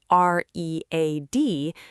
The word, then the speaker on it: read: The word is spelled r e a d, but we pronounce it read here.